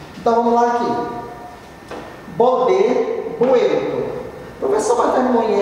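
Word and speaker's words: vuelto: Porque no espanhol o V tem som de B. Então eu pronuncio bueto, mas eu escrevo bueto.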